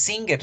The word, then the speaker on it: singer: pronunciar la verdad entonces singer si se escribe con g pero en la pronunciación lage se desaparece y se fusiona con la n entonces vamos a pronunciar